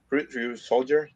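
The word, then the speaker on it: Ryusoulger: Ryu Soldier. That's how you pronounce it.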